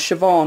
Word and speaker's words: Siobhan: I think that's Siobhan is how you say that.